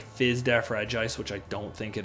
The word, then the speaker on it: Regice: Regice, that's how it's pronounced.